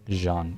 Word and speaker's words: Jean: Jean is apparently pronounced as Is that Zh sound? The N is Oh, like as in vision. Jean. Yeah. Jean and A as in nasal.